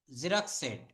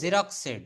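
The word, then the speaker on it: xeroxed: আই হ্যাড a number of page of জক্স সেড। এটা উচ্চারণ হবে জেরক্স সেড।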